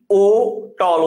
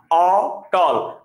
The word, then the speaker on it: অটল: আপনি ও টল উচ্চারণ করেন না, অটল। আপনার মুখ বেশি খোলা থাকে। অটল উচ্চারণ করার সময় আপনার মুখ বেশি খোলা থাকে। তাহলে মুখ যখন অ উচ্চারণ করার সময় বেশি খোলা থাকবে তখন সেটা স্বাভাবিক।